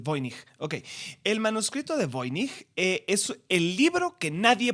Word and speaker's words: Voynich: Sí, el manuscrito de Voynich es polaco, así que creo que se pronuncia Voynich y no Voynich, que sería alemán, pero bueno, el manuscrito, no, pero sí, no, porque tiene el nombre de un alemán.